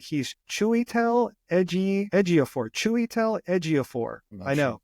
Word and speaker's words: Chiwetel Ejiofor: He's Chiwetel Ejiofor. Chiwetel Ejiofor. I know. It's a hard name to pronounce.